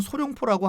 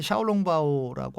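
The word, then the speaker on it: 小笼包: 그래서 우리 발음으로는 소룡포라고 하는데 샤오롱바오라고 하고요.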